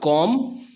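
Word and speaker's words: comb: उसके बाद कॉम, इसमें भी B लास्ट में लगाना होता है साइलेंट, जिसका मीनिंग कंघी करना या बाल बनाना होता है।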